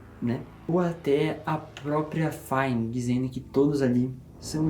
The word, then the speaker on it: Fine: Fine, meu amigão aqui falou que é F-I-N-E que se pronuncia, então vou falar Fine, que é a namorada do Simon.